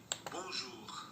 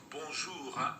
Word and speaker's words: bonjour: So what you want to do is think of bonjour as a three-syllable word. I know it looks like a two-syllable word, but as an English speaker learning French, you need to think of it as a three-syllable word. And you need to keep your tongue down and forward for the J sound.